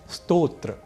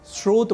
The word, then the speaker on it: स्तोत्र: तो पहला शब्द है स्तोत्र और दूसरा शब्द है स्रोत यहां स्तोत्र को सामान्य रूप से स्रोत बोलना अथवा लिखना अशुद्ध है क्योंकि स्तोत्र और स्रोत